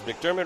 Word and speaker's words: McDermott: So I want to say McDermott had the green sidewalls because McDermott rhymes with Kermit, and Kermit's green.